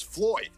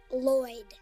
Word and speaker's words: Lloyd: the Lord me no my boss's name is Floyd no it's pronounced Lloyd hey neighbor lady